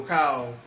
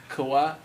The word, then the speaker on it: Kawhi: Speaking of logos, I know Kyle sues Nike over a personal logo. Mm-hmm. oh yeah, Kawhi. He sues Nike. Talk over- about. Say his name again. Kawhi.